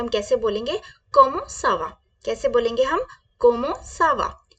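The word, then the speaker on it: comment ça va: को ना लाए अपने दिमाग में जैसे मैंने प्रोनाउंस किया वैसे करें क्या बोलेंगे हम कोमो सावा क्या बोलेंगे कोमो सावा अब हमें हम देखेंगे कि हम अपने से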